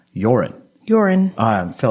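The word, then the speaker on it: Joran: the news i was i kept calling him johan and i don't know why i did and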